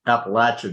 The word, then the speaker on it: Appalachia: And Brian, we pronounce it Appalachia down here.